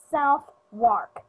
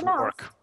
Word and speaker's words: Southwark: That's how you pronounce it if you saw it, right? Southwark. It is pronounced Southwark.